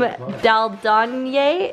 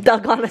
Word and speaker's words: Dalgona: doing the Squid Game Daldonye. Is that how you say it? Nope. Dalgona, sorry.